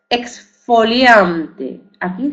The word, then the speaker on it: exfoliante: Exfoliante, aquí GS. Exfoliante, no, no, exfoliante. Aquí conserva el sonido GS.